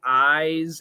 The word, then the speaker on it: eyes: a pronunciation difference between eyes and ice yes the z and s so e y e s is a z sound i z and ice is an s sound otherwise they're the same